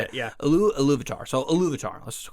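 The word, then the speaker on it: Ilúvatar: So Iluvatar.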